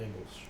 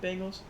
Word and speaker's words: Bengals: okay against the bengals you also can't forget about my boy algeria snead wait so wait wait so just real quick how do you say bangles bangles what what is this bingles you say